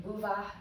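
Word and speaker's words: bhuvaḥ: with this, is that that H sound has a little bit of an aspirated breath that comes afterwards. So we could spell this like bhuvah, swaha, and add like a little A or an Ah sound at the end. In bhuvah, it's less pronounced than in swaha. So we have Om, the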